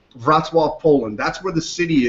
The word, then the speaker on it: Wrocław: This is based in, it looks like Wrocław, but it's actually pronounced Wrocław, Poland.